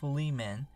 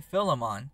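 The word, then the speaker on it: Philemon: in the last video I pronounced it fiman but that was because a lot of YouTubers I was watching pronounced it that way but now I'm seeing everyone else say filimon so for the sake of my sanity I'm saying filimon otherwise I'm going to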